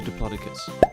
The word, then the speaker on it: Diplodocus: How big was a Diplodocus?